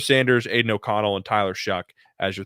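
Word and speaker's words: Shough: is And so that how you you just kind pronounce of that name? yeah, it's Shuck.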